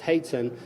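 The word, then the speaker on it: hoatzin: remember it looks like Haute's him but it's pronounced hate sin but in the juvenile formosus grow and it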